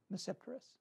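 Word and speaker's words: Tmesipteris: cylotase cylodum and mesipterus the t is silent in this case it's there but i don't pronounce it so you pronounce it as if it begins with an n mesceptorus and here they are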